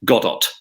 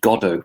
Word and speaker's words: Godot: She had compared something to Waiting for Godot, but she pronounced it Godot, hard T at the end. And her foreign secretary, Lord Carrington, which leaned over and whispered, "It's pronounced Godot, Prime Minister."